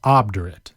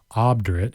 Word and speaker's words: obdurate: Let's move on to our final word, which is obdurate. It's an adjective, obdurate. It's spelled O-B-D-U-R-A-T-E.